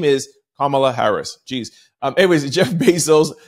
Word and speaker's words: Kamala: So Kamala Harris, because I hear so much different pronunciation, I get so confused. Her name is Kamala Harris.